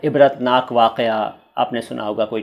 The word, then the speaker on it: इबरत: इबरत भी मैंने देखिए दो तरह से लिखा है, इबरत और इबरत, दोनों ही तरीके सही हैं, लेकिन चलता ज़्यादा पूरे अक्षर वाला है।